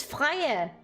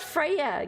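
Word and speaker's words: Freja: But in Danish, we don't say that. I've at least never heard anyone pronounce it that way, especially when it's spelled with a J, like with a J. But she herself says Freya, and that annoys the shit out of me. It's Freya. it's not Freya.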